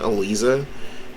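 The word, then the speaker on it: Eliza: is having elisa i'm gonna use her correct pronunciation elisa down in a b tier little vampire meter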